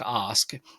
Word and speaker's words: Ask: In fact, years ago for Christmas, I had my last name is actually pronounced Osk. My heritage is Norwegian. There's a town in Norway named Osk, but I had Team